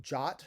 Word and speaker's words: JWT: that that takes um sometimes pronounced jot jwt so that is a jwt token and that's pronounced pronounced dot jot token and that is the